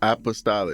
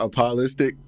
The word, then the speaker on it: apostolic: up in an Apostolic that's how you pronounce it yeah Apostolic Apostolic Apostolic it's not apologistics I never heard of